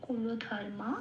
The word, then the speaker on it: কুলধর্মা: আচ্ছা, কুলধর্মা, এখানে লয়ে কোনো নিচে হসন্ত নেই, তাহলে আমি কুল বলতে পারবো না, কুলই বলতে হবে, কুলো। আচ্ছা, ধর্ময় ময় রেপ আছে, এখানে 3 নম্বরে তালিকাভুক্ত করে দেওয়া আছে।